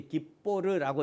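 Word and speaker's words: גִּבּוֹר: 이게 이제 깁보르라고 읽어요.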